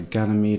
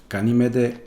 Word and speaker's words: Ganymede: This is episode 10, which is the one where Jet has to go back to Ganymede, and while he's there he bumps into his old girlfriend.